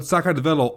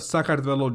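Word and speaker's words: Sakartvelo: conquest after another Empires rise and fall but sakad always seems to survive in the end so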